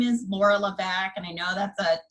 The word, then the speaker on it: LeVesque: of you so again my name is Laura Levesque and I know that's a tough to pronounce laugh name so it's pronounced la Becque and i am the program director at recycled